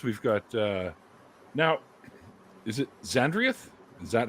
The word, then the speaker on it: Xandrieth: But for now, anyways, we've got now, is it Xandrieth? Is that how it's pronounced?